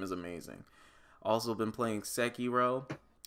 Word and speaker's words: Sekiro: Also been playing Sekiro. It's pronounced Sekiro, but I like Sekiro better.